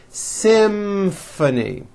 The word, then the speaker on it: Symphony: this next word Symphony this is a tricky one because you've got the M sound followed by an F sound Symphony and the last word